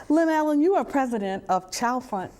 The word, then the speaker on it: Chalfont: Lynellen, you are president of Chalfont House Publishing. Am I pronouncing that right? Chalfont? Chalfont House. Chalfont right. House Publishing. Like Chantilly. Okay. We don't say Chantilly. Chalfont House, yeah.